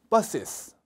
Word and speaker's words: buses: S 단어로 끝나는 소리가 S가 한 번 더 왔습니다. bus 이게 아니고 따라해 보실게요. buses. 한 번 더요. buses. S 발음을 꼭 두 번 해주셔야 됩니다.